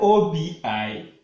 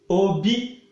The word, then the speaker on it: obi: But you are going to pronounce it in a different form. Obi, male. Just listen the way I'm going to pronounce it. Obi, male. Obi, heart. Obi, heart. See the difference. This Obi has high tone.